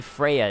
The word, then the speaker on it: Freja: But when it comes to the name, typically Freya is the proper pronunciation.